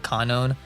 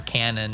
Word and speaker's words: Kanon: to point out conown her name is spelled k-a-n-o-n and i think the japanese way of saying that would be like kanonen so i'm sure some people call her canon or conan or i don't know something